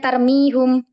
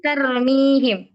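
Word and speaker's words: ترميهم: ini terus misalnya lagiak mungkin kita bacanya tarmihum atau tarmahum Ya pasti tarmihim karena kita tahu Setelah ee huruf mimnya ini di situ ada ynya maka kita bacanya pasti kas I nah terus kemudian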